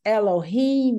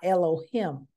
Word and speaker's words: Elohim: All right, and continuing names and terminology, Ruach Elohim, breath of God, and that is pronounced Elohim and not Elohim, is Elohim. I has an E sound in Hebrew, okay?